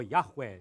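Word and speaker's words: Javé: deuses não você vai temer yahvé Tá certo ou yahu se for pronunciar mais exatamente o yavé também é aceitável né mas eh esse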